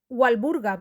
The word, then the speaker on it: Walburga: pronuncia como una V sin embargo walburga era inglesa y en inglés eh se pronuncia la W Así que podemos Escuchar llamarla con w walburga porque era inglesa Pero